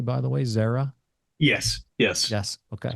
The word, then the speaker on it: Xaira: Management forite labs and Zera Therapeutics am I pronouncing that correctly by the way Zara yes yes yes okay correct um I want